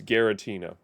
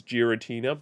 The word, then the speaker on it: Giratina: I I don't care it's gutina for me it always has been growing up so it will continue being so if I don't ask I will happily say it correctly is Giratina but if I'm simply talking like I am here it's gutina the end anyway yeah